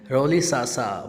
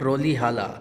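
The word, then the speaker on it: Rolihlahla: Nelson जो लिखा हुआ नीचे देखिए, written by Nelson रोलिसासा Mandela, not रोली हाला। रोली हाला हाला नहीं है स्टूडेंट्स, दिस इज़ रोलिसासा मंडेला, इसकी प्रोनाउंसिएशन है।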